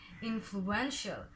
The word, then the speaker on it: influential: Influential.